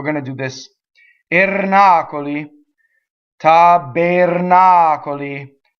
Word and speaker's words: tabernacoli: Okay, so we go backwards when we have a lot of syllables, and that's this word. Okay, the R is rolled, it hits the N. The O is closed. unstressed. The E is also closed, unstressed.